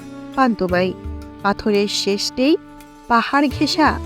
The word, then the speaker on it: পান্তুমাই: উপভোগ করতে পারবেন প্রাণভরে পান্তুমাই সিলেট জেলার পশ্চিম জাফলং ইউনিয়নের একটি গ্রাম যা ভারত সীমান্তের মেঘালয় পাহাড়ের পাদদেশে অবস্থিত পান্তুমাই গ্রামকে যদিও অনেকে পান্থমাই বলে ডাকে কিন্তু এর সঠিক উচ্চারণ পান্তুমাই পাথরের শেষ নেই পাহাড়